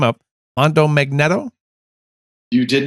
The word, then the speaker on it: Mondo Magneto: called, I'm going to screw the name up, Mondo Magneto? You did not screw it up. That's how I pronounced it. That's not how it looks written. It looks like Mondo Magneto. Of course, yeah. Mondo Magneto.